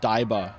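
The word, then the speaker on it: 台場: Diver is pronounced Daiba in Japanese, I suppose.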